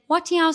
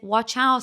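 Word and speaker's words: 我叫: So I should have said, Watiao, which means But I accidentally said, Wachao, which means what the.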